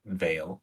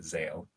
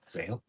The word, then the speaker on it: Zale: I mean, one of them is Vale, not Vale, Zale, Zane, Zale, Zale for sure.